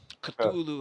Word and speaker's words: Cthulhu: Spelt like if you spell it with a K, that's actually how you pronounce it. You don't say it with a soft C. So, It's a yeah, uh, Cthulhu uh, Raila Fatang.